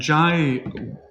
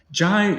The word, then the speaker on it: Giaj: a very interesting composer the name is strange it's spelt in many many different ways and i think that's because it was originally french it comes from jay j-a-y and then when it